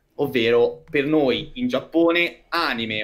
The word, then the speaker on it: anime: termine giapponese anime, ovvero per noi in Giappone anime o anime, come si pronuncia in giapponese è una parola che si riferisce a tutti gli show animati.